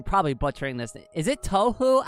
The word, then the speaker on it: Touhou: It's Touhou.